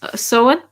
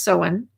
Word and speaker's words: Samhain: ago uh so and some people say so and i say i think it's i thought it was so in uh but it looks like samhain why are celtic words